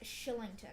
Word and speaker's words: Kylington: sorry say that again kylington is pronounced shillington ashley for real yeah